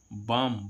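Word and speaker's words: balm: जैसे हम देखें बी ए एल एम बाम। बाम means क्या होता है? सेमन। अब देखो यहां पर एल का उच्चारण नहीं हो रहा है। इसको हम बाल नहीं पढ़ेंगे। इसको हम क्या पढ़ेंगे? बाम पढ़ेंगे।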